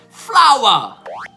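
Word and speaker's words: flour: Tuttora non mi convinco che hanno la stessa pronuncia, ma ce l'hanno. Flower, F-L-O-U-R, che significa farina, e flower, F-L-O-W-E-R, che significa fiore.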